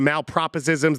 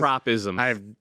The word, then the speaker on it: malapropisms: The malproposisms, the mispronunciations. Malapropisms. I clearly screwed that up.